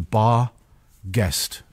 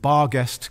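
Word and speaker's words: barghest: sniff horrific Lee uh-huh they actually pronounced it guest back in the olden days and bar guest comes from out the old saying town ghost or the Germanic bear guest or bar guest or bear ghosts now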